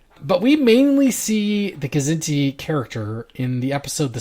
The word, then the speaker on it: Kzinti: Did we decide it was Kzinti or Zinti? I think it's pronounced both ways. Kzinti? I've heard it both ways. Okay. Kzinti is dangerously close to Zindi, so maybe I'll pronounce the K.